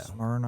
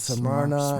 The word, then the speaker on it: Smyrna: Smyrna. I never know how to pronounce. Yeah, that's Smyrna.